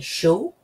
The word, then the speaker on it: chaud: Now you can see that that's C-H-A-U-D, and it's not spelled, it's not said at all the same way as it's spelled, right? So, il fait chaud. That's how you pronounce that.